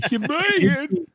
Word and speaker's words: Sheboygan: Sheboygan. Sheboygan, Wisconsin. He can't say it right. I do say it right. That is the right way. It is the right way. Sheboygan.